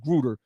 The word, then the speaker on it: Grutter: A cornerstone of the diversity rationale in Grutter, which allowed the use of race-based, and that could be pronounced Grutter, race-based preferences in higher